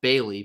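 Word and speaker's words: Baly: is Javon I believe his last name is pronounced Bailey but it's b-a-l-y Javon Bailey uh picking NC State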